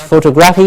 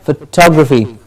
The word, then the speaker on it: photography: important very often mispronounced photograph photographer and photographic and photography not photography but photography photography yes and then